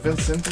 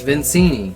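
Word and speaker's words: Victini: Is it Vincenti? How do you pronounce it? Something like that. It's Vincini.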